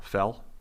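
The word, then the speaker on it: Fehl: think are important andy uh how would you pronounce f-e-h-l fell andrew fell sure uh so he he was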